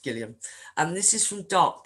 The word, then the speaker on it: Gillian Flynn: this is gillian flynn i'm not mispronouncing her name and he's pronounced gilliam and this is from